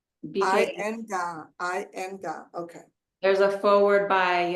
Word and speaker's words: Iyengar: Linga, that's how you pronounce it? Linga? Iyengar. Iyengar.